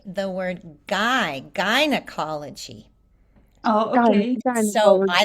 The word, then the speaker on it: gynecology: So I Gynecology. don't know if in British English they say it differently, but we say guy like a guy, a person, a man. It's the And same gynecology?